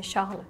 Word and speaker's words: Charles: Oh, there is only French saying like sh, not ch. Yeah. You just say Charles.